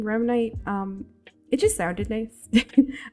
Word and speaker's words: Remnite: it's pronounced only as remite its General meaning is tied to the term REM rapid eye movement and the word Knight as slay for night